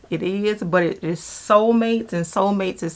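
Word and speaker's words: Solmates: that is not beauty is these socks from Soulmates.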